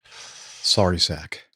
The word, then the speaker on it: Narsarsuaq: How do you pronounce that? Do you know? Sorry, sack.